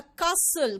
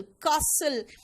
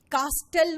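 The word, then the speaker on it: castle: And reached a कासल, कासल, कास्टल मत बोलना, इसलिए इंग्लिश में ये सबसे बड़ा प्रॉब्लम है, इसमें कुछ कुछ लेटर्स होते हैं जो साइलेंट होते हैं। कासल, कुछ लोग कैसल भी बोलते हैं, है ना, क्योंकि आपको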